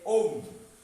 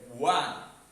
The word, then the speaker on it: won: Look at that, most of the students make the mistakes here. They say they own. The actual pronunciation will be won.